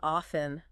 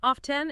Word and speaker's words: often: considered acceptable really yeah often with the silent tea it's a bit more traditional and maybe a little more formal it's the pronunciation you might use in a presentation or a job interview but in casual conversation off 10 is perfectly fine so it's like choosing